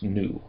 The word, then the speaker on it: nu: and is and the letter is pronounced new and it makes an N sound.